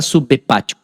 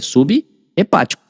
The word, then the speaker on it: subepático: Não vai ficar subheepático, tá vendo? Não vai ficar subheepático, é subepático.